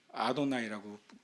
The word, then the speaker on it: 아도나이: 히브리들인들은 여호와라고 써놔도 아도나이라고 읽잖아요. 여호와라고 쓰고 아도나이라고 읽습니다.